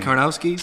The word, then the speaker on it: Karnowski: the big Polish guy who I can never pronounce his name. Karnowski?